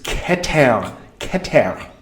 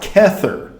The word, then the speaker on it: keter: So for those of you who are into Western ceremonial magic and all, it's keter, not kether, okay?